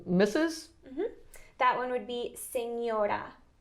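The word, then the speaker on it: señora: next word is misses that one would be senora signora you say senora okay and then for someone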